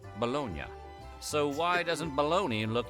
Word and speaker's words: Bologna: But in Italy, that city is pronounced Bolognia.